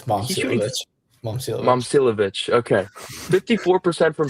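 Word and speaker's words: Momčilović: Okay, then another guy that doesn't get enough attention, Milan Moslavakic. I don't know how to pronounce that. I got it wrong. It's Momcilovic.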